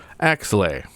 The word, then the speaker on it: Axelay: Axelay. I don't know how to pronounce it.